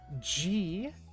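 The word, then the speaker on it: じ: What are they pronounced as? Zazizuzezo. Za, ji, zu, ze, zo.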